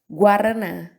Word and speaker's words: guaraná: 40, quota, égua, guaraná. Viram? Em todas essas situações eu pronunciei o U, tá certo?